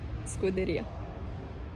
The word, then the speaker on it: Scuderia: Our cameraman's Italian too, so how do we pronounce the name of this? Ferrari 16M Scuderia Spider.